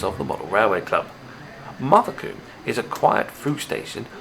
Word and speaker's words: Mothecombe: Now, last year I was called up on not pronouncing this layout right, so I'm telling you the name is Mothecombe, even though there's no R in it.